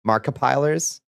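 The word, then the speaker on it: Markiplier: It's pronounced pilers. Markipilers.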